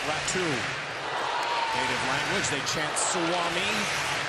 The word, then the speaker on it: Räty: Spelled Räty, but it is pronounced Räty.